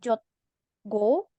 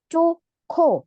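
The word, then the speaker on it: 좋고: Nah, di sini bukan dibaca jotgo atau jotko, tapi joko karena hietnya ketemu sama giok.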